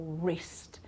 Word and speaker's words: wrist: Right, wrote, rap, wrong, or wrist. Everything starts with an R, so the sound R, but in fact we don't pronounce the W here, right?